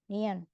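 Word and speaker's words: 니은: huruf nion huruf Nen dia dibaca sebagai huruf N bunyinya n niion misal kita tambahkan a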